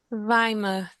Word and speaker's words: Weimar: No sé si Gabriel me corrige, o Weimar, no sé cómo se pronuncia en alemán. Weimar.